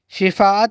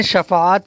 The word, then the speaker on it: شفاعت: سعادت، سلامت، شرارت، شرافت۔ شفاعت نہیں کہیں گے، شفاعت کہیں گے، شفاعت کہیں گے۔ صدارت،